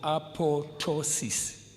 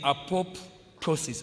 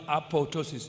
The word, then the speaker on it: apoptosis: Yeah, you might mistake by saying apoptosis. Apoptosis, but it's spelled. It's pronounced apotosis. The other P is silent.